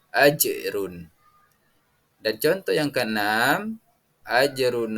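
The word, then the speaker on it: أجر: Dan contoh yang kelima, ajrun, sama, harus membacanya dengan memantul, yakni ajrun.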